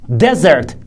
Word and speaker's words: desert: another word that's desert desert d-e-s-e-r-t stress is on the first syllable and it means biobond